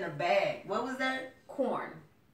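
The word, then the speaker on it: Quorn: Corn. It's a meat supplement. It's no meat though. But it's spelled with a Q. Q-U-O-R-N, yeah.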